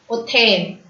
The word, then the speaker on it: hôtel: H is always silent in French. Hôtel.